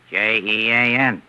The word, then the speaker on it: Jean: the French name Johan j e a n and how do you pronounce that in English Jean there you are you